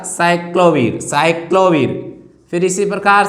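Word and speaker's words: acyclovir: जैसे हम बात करते हैं साइक्लोवीर, ए साइलेंट है, यहाँ से आएगा साइक्लोवीर।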